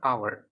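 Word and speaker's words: hour: আচ্ছা, অ্যান আওয়ার এখানে শুরু হয়েছে কি দিয়ে?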